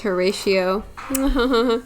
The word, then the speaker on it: Horatio: like a thing thing cortio pronunciation Horatio oh it is Horatio Horatio than our dreams of